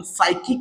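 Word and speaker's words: psychic: आहे त्याच्या त्याच्यानंतर आहे सायकिक एस च्या अगोदर पी हे लेटर येत आहे लक्षात घ्या आणि पी हे लेटर आपल्याला सायलेंट ठेवायच आहे आणि याचं वाचन सायकिक या पद्धतीने करायच आहे लक्षात घ्या.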